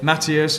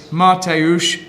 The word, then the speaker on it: Mateusz: It's Matthias Mattis. And hang on, the correct pronunciation is apparently Mateusz Mattis.